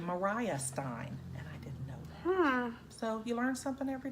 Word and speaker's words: Maria Stein: it's it looks like Maria Stein is another little city up there it's actually mariah Stein so you learn something